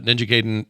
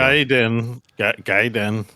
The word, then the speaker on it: Gaiden: Yeah, Ninja Gaiden. Think of it as like the verb you're guiding.